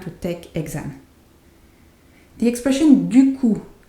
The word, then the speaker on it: du coup: And the P is not silent, is not pronounced, sorry, is silent. Du coup.